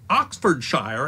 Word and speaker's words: Oxfordshire: example the word Shire every Britain will tell you that Buckingham Shire Oxford Shire and bedfordshire are pronounced buckinghamshire Oxfordshire